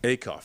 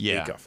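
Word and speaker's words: Acuff: Oh, Darius Auff. Akoff. That's Auff.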